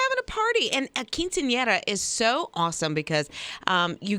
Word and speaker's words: Quinceañera: Quinceañera. Quinceañera? Right? Okay. It's a girl's 15th birthday. And so that's what they were doing. They were having a party. And a quinceañera is so awesome because you get totally dressed